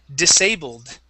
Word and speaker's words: disabled: And this one is disabled. Okay. And we're going to end with a D sound.